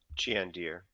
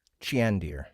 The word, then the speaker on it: Chandir: I pronounced this one jandir chandir okay harder on the the the E heart e chin deer chandir got it all right and I